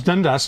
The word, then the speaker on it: Dundas: Dundas? It's Dundas is correct.